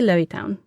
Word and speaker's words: Levittown: connection to the place well we say Louis town but it's spelled the same way as Levittown New York say on Long Island yes and for people